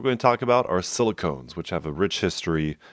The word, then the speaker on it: silicones: some of the pronunciation the ailment is silicon the polymer is silicones like ketones so use that to